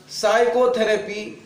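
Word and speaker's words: psychotherapy: यहां पे एस है एस से पहले पी है उसे पी को आपको नहीं पढ़ना है क्योंकि इससे पहले जब भी पी आता है वो पी साइलेंट होता है वो खामोश रहता है लिखा तो गया है लिखा गया है लेकिन पढ़ा नहीं जाएगा वो साइड क्योंकि साइलेंट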